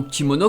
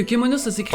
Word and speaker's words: Kemono: Et non Kimono comme certains pourraient l'entendre. Non mais finalement l'erreur, on sait d'où elle vient. Ouais bon, l'animé du coup. Elle vient du fait qu'en fait que Kemono ça s'écrit.